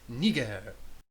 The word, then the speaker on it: Niger: I think it's Niger, sir. Like the country, with a soft G, sir. Bigger sticker, sir. What's so wrong with Pescennius Niger?